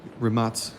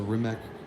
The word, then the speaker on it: Rimac: next up we have the rimac rematz sorry pronouncing it right is a balkan language so i gotta throw the balkan pronunciation on this is the rimek concept one the first